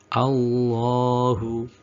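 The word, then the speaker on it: الله: atasnya lam tetap harokat miring, tapi pada praktek bacanya harus tetap dibaca panjang. Allahu, Allahu.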